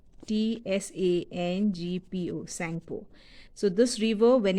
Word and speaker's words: Tsangpo: Sangpo. T is silent. Sangpo. Tsangpo.